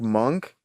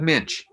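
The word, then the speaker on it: Moench: Is it Doug Monk? Doug Minch.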